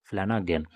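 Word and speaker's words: Flanagan: तो नाम आपका जो प्रोनाउंसिएशन है नाम का वो आप देख सकते हैं, फ्लैनागन।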